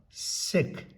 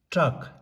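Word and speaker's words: སྲེག: And then sa rata sa dengpo se ga sek. Actually we have to read it as sek. Sa rata sa dengpo se ga sek. But in spoken Tibetan we pronounce it as trak.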